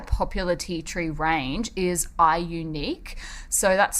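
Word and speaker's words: iUNIK: has quite a popular tea tree range is i unique so that's spelt i you nik they're doing a little bit of a funky thing with their letters there um but it is pronounced i unique i am told so tea tree serum and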